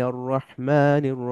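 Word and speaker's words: الرحمن: ভাবে উচ্চারণ হবে যেমন আর রাহমান হবে না হবে আর রহমান আর রহমান আবার র সরাসরি ও উচ্চারণ হবে না ও সাউন্ড হবে না র র রহমান বিসমিল্লাহ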